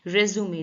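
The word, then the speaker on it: résumé: versatile additional अतिरिक्त extra रेज्यूुमे biodata French word है ये सीवी इसका प्रोन्स प्रोनन्सिएशन होता है रेज्यूुमे देखिए यहां पे लिखा हुआ है रेज्यूुमे ठीक है ये रेज्यूम नहीं है आर ई एस यू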